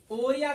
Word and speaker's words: orrhoea: ग्राफोरिया, ओरिया का अर्थ होता है फ्लो, डिस्चार्ज। ओरिया का अर्थ क्या होता है? Flow, discharge. यहाँ लिखो टेक्निकल टीम। यस सर। हाँ, ओरिया, ORRHOEA, इसको पढ़ते हैं ओरिया।